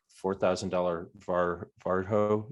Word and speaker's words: Varjo: four thousand dollar var varjo is how you say that headset we'll pair them together